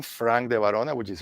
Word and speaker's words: De Varona: You write my name, Frank de Varona, which is right here on the screen.